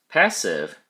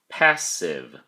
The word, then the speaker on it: passive: Passive has two syllables, and the emphasis or stress is on the first syllable, pass. Don't forget to pronounce the V sound at the end of the word.